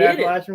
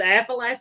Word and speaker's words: Appalachian: tree grit Appalachian way did I say it right yep you said it Appalachian ways you said it right you said aalach right you didn't say Appalachian a know how she